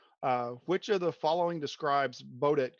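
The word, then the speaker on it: Baudot: Which of the following describes Baudet code or Baudet code, however you want to pronounce that? Bordeaux is the correct. It's French.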